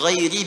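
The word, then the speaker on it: غَيْرِ: Ghairil maghdubi alaihim waladdallin qara'al jumhuru ghairi bil jar. Mayoritas ahli qiraat membacanya menggunakan kasrah, ghairi i.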